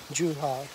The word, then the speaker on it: Zhuhai: Zhuhai, Z is pronunciated as like Z, or Z is pronunciated as J, Zhuhai.